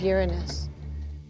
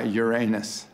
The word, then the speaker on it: Uranus: people are embarrassed by uranus uranus yeah i pronounce the planet's name uranus which is very likely closer to the original pronunciation of the name of the god after whom it was